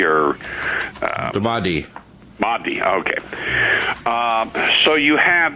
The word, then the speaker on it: Mahdi: I always mispronounce it. Mudi or... the Mahdi.